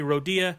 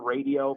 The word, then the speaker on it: Rodia: But yeah, I get called Rodia, radio, but no, you said it right first time.